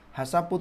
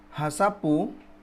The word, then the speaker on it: HACCP: Selanjutnya di halaman 45, Ichibang, Hasapu toa yang dimaksud dari hasap. Hasapu, HACCP, bacanya Hasapu. Hasapu toa, Hazard Analysis Critical Control Point.